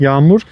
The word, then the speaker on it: yağmur: Yumuşak No, G is yağmur. like yes, yağmur. Huh, And yumuşak G- G, okay. Yes, yumuşak G is soft G.